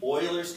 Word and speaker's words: Euler: an irrational number it's a constant it's actually Euler's constant pronounced Euler but will spell with an e